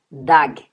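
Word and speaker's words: דג: por exemplo, da palavra dag, g, g. Então você percebe que dag, que é peixe em hebraico, termina com Gimel, sem o pontinho. Perceba como que eu pronuncio, ó, dag.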